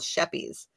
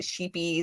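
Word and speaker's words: Scheepjes: that I really love is called shepies yeah the way that it's spelled it's I think it's dutch and it's s-c-h-e-e-p-j-e-s it made no sense to me because yeah well so for a long time I called it sheepies or Shabba veggies I could not pronounce it and thankfully they had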